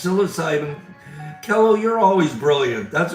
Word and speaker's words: psilocybin: Um, they are the silent P ins psilocybin.